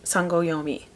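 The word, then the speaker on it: Sangoi: Sanoi, that's how they pronounced it in the audiobook.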